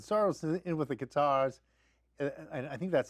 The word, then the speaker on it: Qatar: is in with the Qatars, I think that's how you pronounce it. That's not correct. Like a guitar, but Qatar.